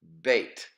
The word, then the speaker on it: bet: Well, when there is a dagesh in the center of the bet, it is pronounced bait.